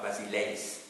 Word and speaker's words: basileis: E-I-S, ça se prononce es. Ça va, pas basileis, comme on pourrait le dire en Belgique. Ça va? Donc, basileis, comme s'il s'agissait de deux E, les uns derrière les autres, avec l'accent aigu, si vous voulez.